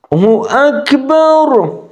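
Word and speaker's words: اللهُ أكبر: اب آ گئی پیش، را کے اوپر جو پیش ہے رُلّہ، رُلّہ، رُلّہ۔ اب جو ہے اگر آپ عربی لہجے میں اذان پڑھنا چاہتے ہیں تو آپ کو یہ پیش لگانی ہوگی اذان کی خوبصورتی کے لیے، اور یہ پیش ہوتی ہے اللہ اکبر، اللہ اکبر، الف لگ گئی، ہو اکبر، ٹھیک ہے جی، ہو اکبر، ہو اکبر،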